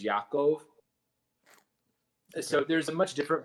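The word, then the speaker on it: יעקב: how that's pronounced and then Jacob is Yakov so there's a much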